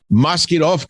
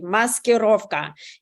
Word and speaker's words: maskirovka: was the entire Insurrection a strange mosquito which of course I'm mispronouncing a deceptive charade meant to confuse and distract Russia's enemies you don't think so I'll bet 100 you just nailed it Dr Savage and you even pronounced it perfectly muskurovka in uh in